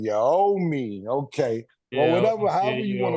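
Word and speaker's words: Anunoby: trade with OG and noi am I pronouncing the name right murder no it's OG and you ow me OG and your oh me okay whatever however you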